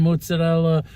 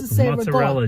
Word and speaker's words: mozzarella: rot cheese and mozzarella mozzarella cheese and mozzarel Moz Mo mozzarella it's not mozarella mozarella mozzarella if you hear someone say mozarella or Ric they probably don't have